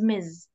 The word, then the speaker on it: Ms: mister and misses and we have Miss and Miz the last one I pronounce it as Z M okay so uh